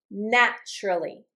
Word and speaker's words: naturally: Notice my pronunciation. When I have a T followed by a U sound. So, I'm getting a T and then a Y together. It's going to sound like a ch. Okay? And we do this when it's the same word or when they're different words. For example, so the t and then the y sound together equal ch in pronunciation. And we do this with the word naturally.